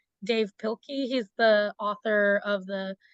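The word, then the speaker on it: Dav Pilkey: One of my favorite authors, I think his name is pronounced Dave Pilkey.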